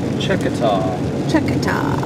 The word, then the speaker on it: Checotah: Checotah. That's probably not even how you say it. No, it's proper. The properly pronounced way is Checotah.